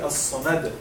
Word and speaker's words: الصمد: So here, that if we are going to stop because this would be sakina. this dhamma will be sukun if we're going to stop. So in this case, it will be as-samad.